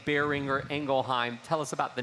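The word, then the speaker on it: Boehringer Ingelheim: not necessarily be familiar with the family name bearing or engelheim tell us about the name and the family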